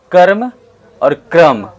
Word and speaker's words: कर्म: Next हमारा है कर्म और क्रम, दोनों में अंतर है। देखिए ध्यान से, प्रोनाउंसिएशन में हल्का हल्का, कर्म और एक क्रम।